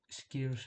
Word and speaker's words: Skyros: I have Skiros as it's pronounced, and Hydra, not Hydra.